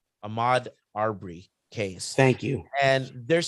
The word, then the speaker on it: Ahmaud Arbery: We also had the jury come in with a verdict for the how many pronounce his name? Amar Aubrey. Ahmaud Arbery case.